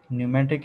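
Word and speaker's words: pneumatic: Hydraulic है, न्यूमेटिक है. इसमें जो पी नहीं पढ़ा जाता, ये साइलेंट है. ठीक है. न्यूमेटिक. सही.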